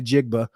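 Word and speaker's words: Njigba: you say it so the N is silent it's a half silent n ah what what Jackson Smith and jigba jigma that's what I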